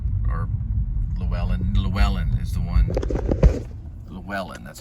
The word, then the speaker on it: Llewellyn: Llewellyn is the one that, or Llewellyn is the one, Llewellyn, that's how you say his name.